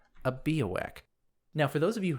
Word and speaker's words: Biawac: A Bowak, which is a funny sounding word, it's spelled B I A W A C, and